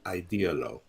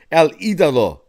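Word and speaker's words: El Ídolo: using that name El ideolo right come on Kev I mean clean up your espanol a little bit man come on it's El idah Jesus the Idol come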